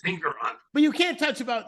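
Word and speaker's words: Engoron: judon so you can't got nron judge it's ingon sir it's ingon but you can't touch about you can't talk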